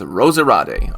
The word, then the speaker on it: Roserade: pronounced roserade's name wrong i'm pretty sure it's pronounced rosariate okay so oh and